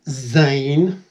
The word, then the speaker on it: Zan: hello Zan hello Chris my name is actually pronounced Zan Zane oh right is that